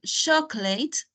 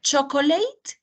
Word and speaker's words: chocolate: attention to the pronunciation chocolate is almost like um don't use the O is like C and chocolate and Cake this one is a tricky word to pronounce sometimes it's not chocolate it's chocolate yes yes